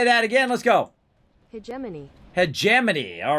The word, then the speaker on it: hegemony: what we do unlocked at 2 000 uh he jamini he jamini hermione uh let's see how do you say that again let's go hegemony hegemony all right so uh 2000 hegemony oh